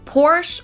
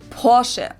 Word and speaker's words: Porsche: Heard Americans pronounce it Porsche or Porsche. In German, they say Porsche. So there's like a short a sound in the end.